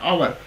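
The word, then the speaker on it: hour: एच ओ यू आर इन दोनों का pronunciation same है आवर लेकिन स्पेलिंग डिफरेंट है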